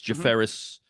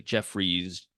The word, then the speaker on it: Jefferis: It's Jefferis, but a lot of people say Jeffries, all that.